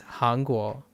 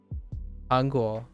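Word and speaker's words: 韩国: Although this is pronounced kankoku. Kankoku for Japanese. But that's Hangguo. Hangguo for Chinese.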